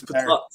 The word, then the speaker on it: Ptah: I call him Ptah because there's a P in there, and I'm sick of not pronouncing letters. So yeah, it's like, but it's Ptah.